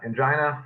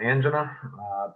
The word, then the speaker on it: angina: acute coronary syndrome uh angina or angina pectoris you can pronounce it either way either way is correct um it's chest pain